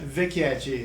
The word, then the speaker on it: Vecchietti: o N de Vecchietti, a pronúncia? Vecchietti, isso.